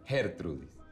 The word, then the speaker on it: Gertrudis: Disculpa, Yulisa, el nombre se pronuncia Gertrudis.